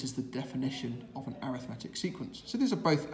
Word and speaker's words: arithmetic: And this one where you commonly add a number is called an arithmetic. Spelt the same as arithmetic, but pronounced arithmetic sequence.